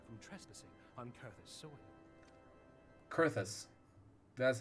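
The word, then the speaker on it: Coerthas: dissuade the Empire from trespassing on Curtis sewing kurthus that's how it's pronounced I'm glad am I that you have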